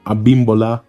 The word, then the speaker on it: Abimbola: It's pronounced Obabinjo Ola, and the second name is pronounced Abimbola Ibel.